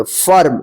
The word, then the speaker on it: firm: अब यहां पे देखिए FIRM, इसको क्या पढ़ेंगे, फर्म। देखिए यहां पे अ उच्चारण हो रहा है, आई का अ उच्चारण हो रहा है, फर्म।